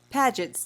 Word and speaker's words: Paget's: and why it's different paget's disease it is pronounced how it looks don't get used to it most terms don't work that way but paget's disease is